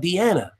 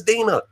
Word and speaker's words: Dena: kept saying he said I'm trying to get out Deanna you know he was pronouncing her name wrong notice how John kept correcting him and kept saying her name is Dena come on man when